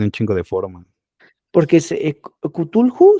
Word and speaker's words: Cthulhu: Porque Cthulhu, sí, sí se pronuncia así, Carlos.